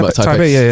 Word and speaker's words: Taipei: Yeah, Taipei.